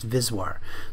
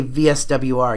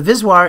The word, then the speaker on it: VSWR: ratio the VIS waar it's always pronounced vis war so if you if you say VSWR you'll sound like a like an amateur you want to save is war so the vis war is the V Max